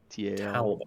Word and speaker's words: Talbar: Talbar. Talbar. Don't spell it like a towel with a bar.